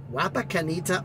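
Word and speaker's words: Wapakoneta: to pick up below there to bring to wapakanita Ohio yeah I said it right the first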